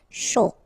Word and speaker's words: chaud: Chaud. Final D not pronounced, and then when you combine this C and H, you get the sh sound. A and U, O. Chaud. Important.